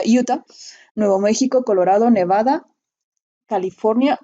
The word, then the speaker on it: Utah: que se escribe así, se escribe Utah, se pronuncia Utah, Nuevo México, Colorado, Nevada, California y les menciono todo esto en Estados Unidos.